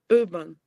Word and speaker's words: urban: It's So you had the right sound, but it's long.